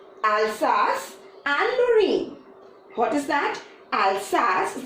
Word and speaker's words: Alsace: angry what is that Alsace it's a French name so a little bit difficult pronunciation but once you give it try it's fine okay so it's Alsace and Lorraine let other